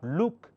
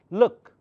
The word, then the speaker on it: look: sound put look look here is double O but it's not luk it's look this one cook book